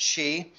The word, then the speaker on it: Xi: and the visit by President Xi that's how you pronounce excise like he she it she President Xi and and it had